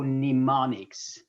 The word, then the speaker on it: mnemonic: remember that yes that's mnemonic it starts with m okay m is not pronounced so mnemonics okay let me give you